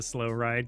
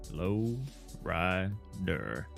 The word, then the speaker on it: Low Rider: You got to listen to Slow Ride because you misunderstood the song's name. That's so funny. Low rider.